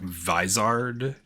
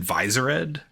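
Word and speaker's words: Vizard: um I think you're I think it's supposed to be a play on Wizard so like visard or visits yeah uh I always pronounce it visor Ed right because I always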